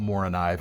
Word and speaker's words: Morakniv: All right, next we're going to talk about Mora knife, or Mora Knif if we're being sticklers about our pronunciation, but they're most commonly just called Mora.